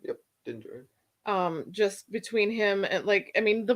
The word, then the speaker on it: Din Djarin: Yep, Din Djarin.